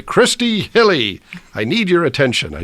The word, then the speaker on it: Hille: Giuliano and my guest this week is Christy hilly with Azure agency Christy how you doing really